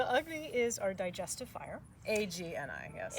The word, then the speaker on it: Agni: A-G-N-I, yes. A-G-N-I, yes, and it's pronounced Agni, not Agni.